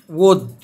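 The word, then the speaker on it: would: بعد كده حرف ال مش هينطق لو جه قبليه او او يو. زي كلمة كود، كلمة وود، تمام.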